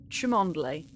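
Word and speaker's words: Cholmondeley: only oh he was saying it was um chumondly is how it's supposed to be pronounced tremondale fill it with piss and throw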